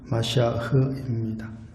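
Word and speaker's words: מָשִׁיחַ: 정확한 발음은 마시아흐입니다.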